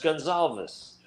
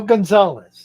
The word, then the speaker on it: Gonzalez: close say your name for me uh it's pronounced Gonzales oh Gonzalez okay Gonzalez yep nice to meet you yes I